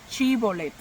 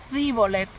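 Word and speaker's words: Shibolet: Los de la tribu de Efraín no podían pronunciarla bien. No podían pronunciar bien la S y la H, ¿verdad? La C y la H. Eh, al parecer tenían algún tipo de frenillo o algo así.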